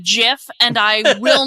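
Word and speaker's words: GIF: It's like somebody kicks the door of the inn just like wide open and goes, "It's pronounced Jiff, and I will not be taking questions."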